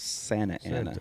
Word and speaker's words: Santa Ana: It's correctly pronounced Santa Ana. Santa or Santa? Santa Ana. Santa with a T. Just like the conquistador in the Battle of New Orleans.